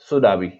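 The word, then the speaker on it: tsunami: next question हमारे पास है, what is द सुनामी, यानी कि आप इसको जो है इसके अंदर टी साइलेंट होता है तो आपने इसको पढ़ना है सुनामी, यानी कि सुनामी किसे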